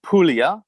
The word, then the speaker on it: Puglia: And I also thank you for pronouncing it Puglia. Am I saying it right now? Puglia. Puglia. Puglia, Good. yeah. Wasn't entirely sure how to pronounce it.